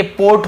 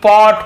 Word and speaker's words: pot: को ओ, ऐसे डोट note नहीं पढ़ेंगे, इसलिए उच्चारण पे ध्यान दीजिए, डॉट। फिर POT क्या होगा बताइए, पोट होगा, पार्ट होगा कि पॉट होगा, जी हाँ पॉट होगा, ये पॉट।